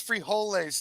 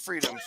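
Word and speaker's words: frijoles: hate beans I hate it's pronounced it's pronounced free holes Tony not Freedom free holes uh we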